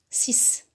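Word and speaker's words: six: Ici, X ne se prononce pas X, non, se prononce comme le... Il a le son S, 6.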